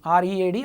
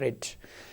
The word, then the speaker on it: read: the newspaper is read read pronunciation will be like that but spellings are same r e a d r e a d but it should be read like this read red and red so the newspaper is